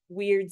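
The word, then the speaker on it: wyrd: And weird is spelled W Y R D, but that's also meant to sound like weird sisters, like they're weird.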